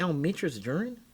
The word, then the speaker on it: Almetris Duren: I said, did you mean Almitra's Duran? He goes, I don't know. I guess I don't know how to pronounce this.